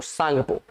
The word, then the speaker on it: Tsangpo: और इसकी स्पेलिंग आप देखोगे तो एस से स्टार्ट नहीं, टी से स्टार्ट है, TSANGPO, सांगपो। ठीक है, तो वहां पे